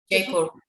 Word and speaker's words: Jaipur: And when you were up visiting where you're from, you went to Mumbai, but you went up to, you pronounce it Jaipur? Jaipur.